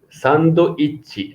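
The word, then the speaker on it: サンドイッチ: Okay, sandoichi.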